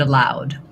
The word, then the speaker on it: aloud: So it's allowed to read aloud. They both have the same pronunciation. So different spelling, but and different meaning, but same pronunciation.